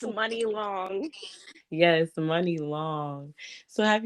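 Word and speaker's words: Muni Long: And let me just say, I just started pronouncing her name right because I'm like, what? It's Money Long. I said, okay, I like that. Oh my gosh, I So, feel so bad. I've been saying Mooney or Money, me Mooney, too.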